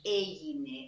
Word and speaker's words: έγινε: What is έγινε? I hear that my stress is on the first syllable.